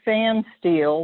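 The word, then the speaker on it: Pfanstiehl: audio description then in 1981 margaret and cody fan steel that's how you pronounce that rather weirdly spelled name that's there margaret and cody fan steel were in washington dc by 1981 and they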